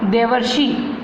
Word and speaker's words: देवर्षि: देव plus ऋषि क्या हुआ, देवर्षि, है ना। तो यहाँ पे क्या हुआ, अर, अर का उच्चारण हुआ, देवर्षि।